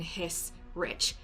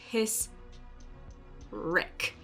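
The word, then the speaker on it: Hissrich: still working on it her last name is spelled hiss and then rich but she says the H with a K and for some reason my brain just wants to keep saying hey rich his Rick it'll become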